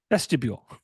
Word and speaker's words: vestibule: that vest vble vesu vestibule like a mule that's mule yeah uh